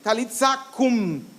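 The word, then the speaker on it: Talitha kum: En realidad se pronuncia algo así, talitza cum, como que la U apenita se escucha. Entonces, cuando Jesús se acerca a ella, le dice algo así, talitza cum, le dice: muchachita, levántate.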